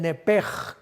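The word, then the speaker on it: נֶפֶשׁ: Aquí esta palabra que se usa para alma se escribe literalmente en el hebreo nepech, pero la CH se pronuncia como J en el hebreo. Entonces podríamos decir que se le salió el nepej con J.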